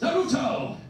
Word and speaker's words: Naruto: Naruto! That is the correct pronunciation, thank you.